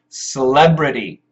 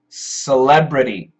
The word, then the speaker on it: celebrity: hi toru s s it's awah sound s celebrity so BR T can we we can change that to a flap T celebrity celebrity yes the newsletter goes